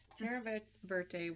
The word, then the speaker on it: Terra Verte: Okay, so that was Terra Verte. So it's just a green, right? Is that how you say it right? Yeah, Terra Verte was added to the sparkle.